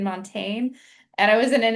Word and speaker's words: Montaigne: went back and forth you pronounce it montaine. I I'm hearing some academics use Montaine. I'll just do it the American Montaigne.